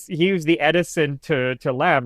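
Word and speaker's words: Lamme: But no, he was the Edison to Lamb, or Lammy, I think it would probably be pronounced.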